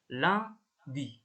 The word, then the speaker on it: lundi: Jadi yang UN dan UM ini cara bacanya itu ang. Kita langsung ke contohnya aja. Ini lundi ini ya. Cara bacanya ini lundi.